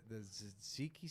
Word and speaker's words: tzatziki: It's not the tzatziki sauce.